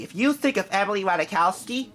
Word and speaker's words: Ratajkowski: you think of Emily Ratajkowski the J is silent and her name I looked it up